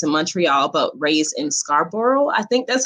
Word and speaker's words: Scarborough: to immigrant parents in montreal but raised in scarborough i think that's how you pronounce that and bram and brampton is it